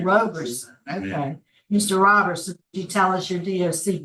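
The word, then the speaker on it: Roberson: Robertson. Is it Robertson? Yeah. R O B E R S O N Robertson. Robertson, I was saying Robertson. Okay, Mr. Robertson, you tell us your DOC number.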